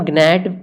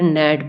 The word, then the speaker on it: gnat: अब इसे हम ग्नैट पढ़ें या फिर नैट पढ़ें? तो इसे जो सही तरीका है पढ़ने का वो है नैट। जी को नहीं पढ़ा जाता है, तो यहाँ पर जी को नहीं पढ़ा जाता है, इसलिए जी को हम मानेंगे साइलेंट।